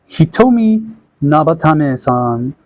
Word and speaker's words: Hitomi Nabatame: So she's voiced by Sentian Murame, and if you find this name familiar, yep, her name pronunciation is known as Hitomi Nabatame-san. So for some of the recent year works on the anime, she does the following characters.